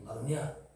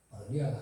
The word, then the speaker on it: 마로니에: 그렇지만 하나님의 근본적인 말씀이 때를 얻든지 못 얻든지 저는 하나님 크니까 우리는 율량동에 마로니에요? 마로니아가 아니고 발음을 똑바로 해야 돼.